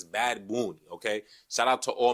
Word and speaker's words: Bad Bunny: Now, Bad Bunny is going to be the Super Bowl halftime performer. Now, you can't say Bad Bunny. It's Bad Bunny, okay?